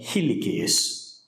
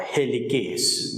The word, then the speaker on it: helicase: Now, this is achieved by the enzyme helicase or helicase, whichever way you want to pronounce it.